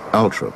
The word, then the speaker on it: Althorp: Even though she had preferred bright lights and big cities, the rural setting of Althorp, sometimes pronounced Altrop by the Toffs, was thought most appropriate for Diana's last resting place.